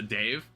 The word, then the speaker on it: DSN: The large dongle named the Grav Ship DSN pronounced a Dave.